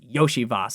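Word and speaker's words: Iosivas: in this game again it's hard to pronounce this guy's name because it's like iocas but it's Yoshi Vos I believe if I got that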